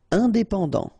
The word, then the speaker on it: Indépendant: Indépendant, final did not pronounce.